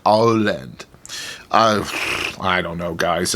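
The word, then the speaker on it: Åland: so uh yeah uh maybe for me the best way is just try to remember it's like all land all land you know like you're saying Holland or something but it's alland I don't know uh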